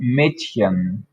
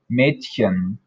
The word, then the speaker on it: Mädchen: This one is pronounced more like a cat hissing, so it sounds like sh, sh. So Mädchen, Mädchen.